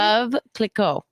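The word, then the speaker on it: Veuve Clicquot: Vuuv cliquet? Is that how you say it? Vuuv Clicquot.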